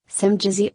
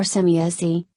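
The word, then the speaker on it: Semjase: Adrius, so as I was saying, Simjazi or Semiasi, is really the pronunciation of her name.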